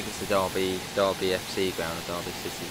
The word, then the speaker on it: Derby: a little bit yes it's not pronounced Derby a lot of people couldn't have to be no it's Derby put an oven Accent